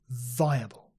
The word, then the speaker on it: viable: plausible portable payable liable viable and these last three are interesting they have a diphthong which is two vowels in one syllable followed by a schwa yeah slowly pay a